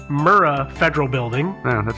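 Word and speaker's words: Murrah: if I do sorry it's the Alfred P murra Federal Building yeah that's how it's pronounced oh is it every time I said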